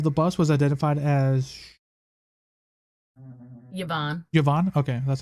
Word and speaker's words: Yvonne: The driver of the bus was identified as Yvonne. Okay, that's how you pronounce it.